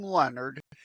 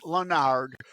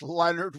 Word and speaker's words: Lenard: Lenard. It's not French. People want to pronounce it Lenard, but it's Leonard without an O and the middle initial